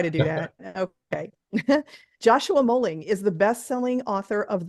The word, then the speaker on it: Moehling: Did I pronounce that right? Moehling? You got it. I did? Oh, good. Yeah, thank heavens. perfect. Okay, I try to do that. Okay. Joshua Moehling is the best-selling author of the Ben Packard series.